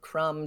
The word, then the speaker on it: crumb: for the most part you have a silent bee when it comes after an M climb comb crumb Dum lamb I want